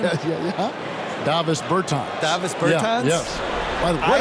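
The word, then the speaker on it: Dāvis Bertāns: Oh, well, now, at this point in my life, it's DeVos Bertans. Is that how you say his name? Yeah. Davis Bertans.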